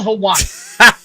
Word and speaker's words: Helwani: how do you say his name Ariel helel helwani okay Ariel helwani look dude I'm sorrya Armani what you're like